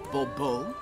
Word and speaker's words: Bobo: as monsieur de bobo the emphasis falls on the last syllable bobo see now i'd rather